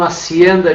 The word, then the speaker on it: hacienda: Onde é que está a nossa sílaba tônica? Hacienda. Ou seja, está na segunda sílaba, portanto ela não atende